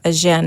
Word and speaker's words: Agen: So we got the walls of Agen as well as the restaurants and the food.